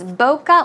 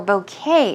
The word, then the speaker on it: bokeh: I guess but it's bokeh or bouquet as well it's pronounced several ways it's basically I think